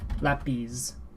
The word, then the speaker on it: lápiz: Lápiz. Lápiz. Lápiz. Lápiz. Lápiz. And then we can compare it as well, because as again there is an accent on the A, so this is a direct comparison between the two.